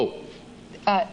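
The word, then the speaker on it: O'Hayer: have done it if I were going to spell it but since I didn't name you it's all right it's O'Hare that's correct one would think it would be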